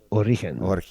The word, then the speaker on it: Origen: So just think origin, yeah, but soft G. Origen.